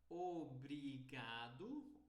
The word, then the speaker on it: obrigado: sou o português mas é uma pronúncia mais rápida e fechada Obrigado eles falam obrigado